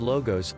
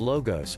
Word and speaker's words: logos: did you notice that the first syllable of logos witches law sounds like law the laws of nature